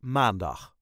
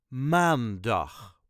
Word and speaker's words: maandag: Let's start Again with maandag as with all the days of the Week The emphasis Is Always On The First syllable maandag maan dag maandag maandag